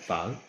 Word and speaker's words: phở: Nó phở. Pho. I can't say it right. Phở. I say pho, but he says it's pho.